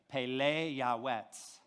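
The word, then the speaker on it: פלא יועץ: of that okay so everybody say pele yawets wonderful counselor that's how you say it in hebrew the word pele translated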